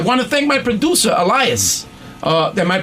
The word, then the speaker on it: Elias: And I want to thank my producer, Elias. Am I pronouncing it right? Oh, Elias, okay. Like I pronounced Kambitsis right.